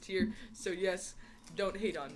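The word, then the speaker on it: TYR: we're not sponsored and if you are wondering it is pronounced tier I emailed their support and asked them and they said it was pronounced tier so yes don't hate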